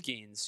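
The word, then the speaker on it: Skenes: on pronunciation? It's Skeens, yeah.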